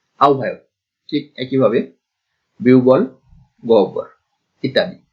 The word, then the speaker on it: আহ্বায়ক: এই ক্ষেত্রে একই অবস্থা, অনেকে এই শব্দটিও ভুল উচ্চারণ করেন, আহ্বায়ক উচ্চারণ করে না, আহ্বান বা আহ্বায়ক এরকম উচ্চারণ করেন, আসলে সঠিক উচ্চারণটা হচ্ছে আহ্বায়ক।